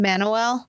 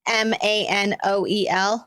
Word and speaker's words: Manoel: So police are investigating, like trying to backtrack these guys, they were identified as being Manuel, I think is how you say his name. Manuel. It's Manoel.